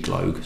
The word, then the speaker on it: Gloag: So, Famous Grouse, massively popular, was produced, first produced by Matthew Gloag and Sons, G-L-O-A-G, Gloag, so I'm pronouncing it Gloag. I don't think it's Gloag.